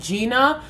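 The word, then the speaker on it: Gienah: Nars Contour blush and Gina but it's spelled g i e n a h I love this to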